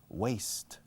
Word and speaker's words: waist: Suena desperdiciar, waste money, to waste time, perder el tiempo. Pero se escribe waist, waist.